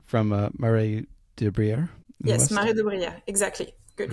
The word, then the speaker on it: Marais de Brière: Yes, Marais de Brière, exactly. Good pronunciation.